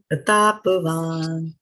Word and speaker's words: प्रतापवान्: Pratapavan. And you see over here, there is, after the N, there is no A. It is not Pratapavana, although you pronounce it